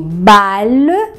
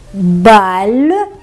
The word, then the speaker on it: bal: Você vai pronunciar como se fosse um L somente. Então, aqui você tem bal, bal.